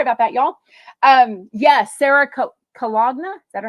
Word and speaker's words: Colonna: Yes, Sarah Cologna. Is that how you pronounce it? Colonna.